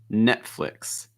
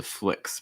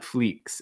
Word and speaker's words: Netflix: disney disney after that netflix netflix i think the key part is the flicks part okay so short i on that eye so it's not fleeks it's flicks netflix netflix after that uber